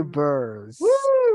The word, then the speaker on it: bears: Yes, because if we say beers, estamos diciendo cervezas. So I say bears.